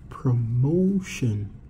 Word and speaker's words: promotion: to make a noun we're gonna say promotion promotion stress the second syllable the syllable which is before the suffix now there are other